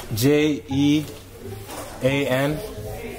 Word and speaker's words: Jean: stud spell it over j e a n are they students like Jean like jeans without the S Andy Jean what's your